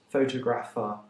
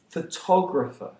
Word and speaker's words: photographer: say photography and photographer deriving the stress from the word photo that's wrong they aren't pronounced photographer or photography they are pronounced photographer photography and incidentally that's